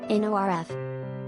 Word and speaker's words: North: the Princess Lounge at North Philly. Pronounced, according to Questlove, NORF.